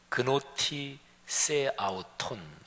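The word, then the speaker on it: γνῶθι σεαυτόν: 근데 너 자신을 알라, 이 말이 헬라어인데요, 헬라어 발음으로 해보면 그노티 세 아우톤 이렇게 됩니다.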